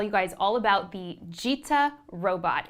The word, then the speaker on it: gita: Now, Justin, am I pronouncing that right? It's gita? Correct, yes, gita.